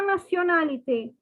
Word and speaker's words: nationalité: Okay, the word nationality is pronounced as nationalité. See, the spelling is almost the same, only the differences of the Y and E. But the pronunciation is very different. It is nationalité.